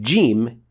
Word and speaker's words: ج: The Arabic jim is always the first one, not the second. And that is how you pronounce it in the Quran.